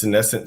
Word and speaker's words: senescent: the medical space necessarily, scinsesscent, how do you spell that? Is that how did I say it right? Yes. Scinsesscent cells.